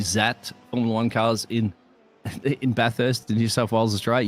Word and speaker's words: Bathurst: now I'm from London we grew up not pronouncing the whole word anyway so this to us is called bar first right and a necklace